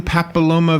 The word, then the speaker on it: papilloma: Human papilloma virus, am I saying it right?